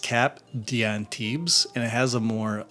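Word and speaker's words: Cap d'Antibes: It's pronounced cap dantibs and it has a more uh oceanic fragrance to it.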